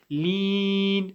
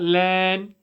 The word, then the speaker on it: الضَّالِّينَ: shadda on the lam, whenever there's a shadda on the letter, you pray the letter twice. وَلَا الضَّالِّينَ, lean, not lan, lean.